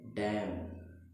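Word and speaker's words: damn: क्या पढ़ेंगे, मेरे साथ पढ़िए आप, डैम, बिल्कुल प्यार से, डैम। एन हमारा क्या हो गया, साइलेंट हो गया।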